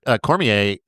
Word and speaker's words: Cormier: In French, it would just be Cormier.